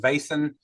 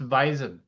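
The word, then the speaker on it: Vaesen: Like I'm a big fan of Vasin. I'm a big fan of Yo, it's I just pron it's pronounced Visen.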